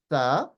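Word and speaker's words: ث: Okay, so the difference between the so this one is pronounced tha, whereas this one is pronounced sa, as in English, right?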